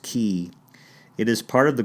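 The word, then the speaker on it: Elbow Cay: The island is Elbow Key, pronounced Key.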